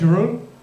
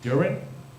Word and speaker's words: Jeroen: Some people pronounce it somehow as urine, which pisses me off.